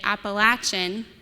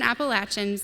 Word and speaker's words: Appalachian: This panelist coached me on the right way to say Appalachian, not Appalachian, which I'm very thankful for.